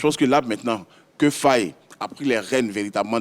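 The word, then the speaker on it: Faé: Faye, mais non, je ne le crois pas, je le prononce comme il faut.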